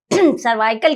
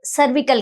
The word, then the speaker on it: cervical: Actually the सर्वाइकल cancer is a Indian pronunciation. असल में ये सर्विकल कैंसर जो है ज़्यादा कॉमन प्रोनाउंसिएशन है।